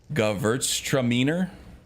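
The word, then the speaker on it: Gewürztraminer: Gavurtstraminer. Gavurtstraminer. Or something like that. I say it with an accent on the verts.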